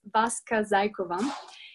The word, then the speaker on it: Vaska Zaykova: I just have to say it out loud once again, just to make sure that you're pronouncing it correctly. It's Vaska Zaykova, and I come originally from Bulgaria.